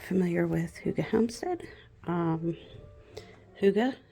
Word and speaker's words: hygge: if you're not familiar with Huga Homestead um Huga it's h y g g and it is pronounced Huga it's a European comp concept of calm peaceful